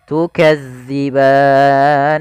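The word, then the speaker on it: تُكَذِّبَانِ: madii fathah bertemu Alif tukziban hati-hati tukzi jangan diganti dengan Zai ban nah ini Mat adatkun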